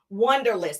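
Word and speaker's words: Wunderlist: Wonderlist, and it's spelled with a U, like W-U-N, Wonderlist.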